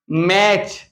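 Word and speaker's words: match: listen इसको पढ़ेंगे एम ए टी सी एच मैच क्या पढ़ेंगे मैच टी सी एच और यहां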